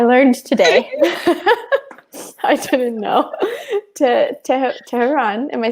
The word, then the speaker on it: Tehran: Tehran. Am I saying it right? Tehran.